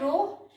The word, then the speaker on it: rho: रो इज रो, RHO pronounce करते हैं रो।